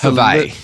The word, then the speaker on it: Hawaii: It's Hawaii. It's a little different. Yeah, for sure. They don't pronounce the W; they pronounce it with a V.